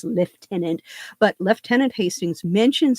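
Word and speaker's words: lieutenant: tenant at this point leftenant Hastings love that pronunciation because nobody in the US Navy says left tenant but left tenant Hastings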